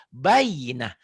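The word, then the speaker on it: البينة: Bayinah. Nggak ada hukum yang lain. Semuanya pendek. Taknya dihentikan Baik. jadi Yang mana, Pak? bayinah. Oh, jadi tak marbuto. Tak marbutoh bunyinya jadi bunyi Ha.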